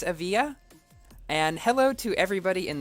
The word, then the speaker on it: Evija: the Grand Prix video a lot of people got upset because I pronounced it a Vidya so I think it's a via and hello to everybody